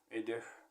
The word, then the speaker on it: Эйдех: Эйдех. Эйдех. Двойная гласная как бы обозначает, что это ударение туда идёт. Эйдех.